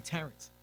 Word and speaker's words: Terrence: Is it you say cuz you say I say Terrent, but you say Terren. It's actually Terrence.